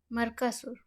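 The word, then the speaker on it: Mercosur: प्रश्न है ये मर्कसुर क्या है ना? मर्कोसुर सही कर लीजिएगा प्रोनाउंसिएशन, यदि क्या हो गलत आपको लगे तो।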